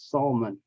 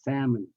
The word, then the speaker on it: salmon: letters and this word a lot of vietnames pronounce it as salmon it is not it's salmon um is an exception to the rule because